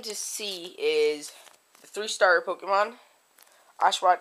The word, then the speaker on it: Pokémon: Pokemon black Pokemon cuz there's an accent over the E remember that it's not Pokemon it's Pokemon uh I'm waiting uh